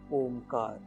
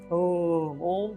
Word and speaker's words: ओम: तो अपना करना क्या है हम लोगों को, देखिए सांस लेना है, और ओ का उच्चारण कम करेंगे, ओम। तो ओ का उच्चारण कम और म का उच्चारण ज्यादा।